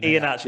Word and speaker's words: Iheanacho: The last Iheanacho. That's how I pronounce it. Iheanacho.